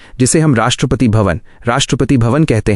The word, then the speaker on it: राष्ट्रपति भवन: भारत के प्रेसिडेंट को रहने के लिए एक बहुत ही आलीशान महल मिलता है, जिसे हम राष्ट्रपति भवन कहते हैं। इसका उच्चारण है राष्ट्रपति भवन।